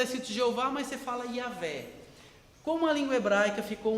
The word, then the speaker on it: Yahvé: a gente não sabe, vamos pegar as vogais da palavra Adonai, que é Senhor, e vamos encaixar nessas consoantes do nome de Deus, para a gente pronunciar alguma coisa, e aí virou o Jeová que a gente conhece. No século XIX, cristãos alemães, pesquisando, chegaram à conclusão que é Yahvé.